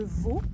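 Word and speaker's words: Vaulx: Donc en fait on part de Vaux. Ça s'écrit V-A-U-L-X.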